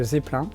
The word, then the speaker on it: Zeppelin: sélection et c'est une montre de la marque Zeppelin donc oui on prononce bien comme ça la marque c'est une